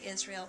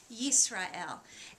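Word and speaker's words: ישראל: israel israel that's right in english we would say israel but in hebrew israel and it's got that yuh sound at the beginning the yud but you hear the s in the middle so listen one more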